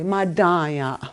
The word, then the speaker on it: madaya: and when madanya see you say madaya like i'm good like you you make a emphasis on the second syllable madaya like i'm good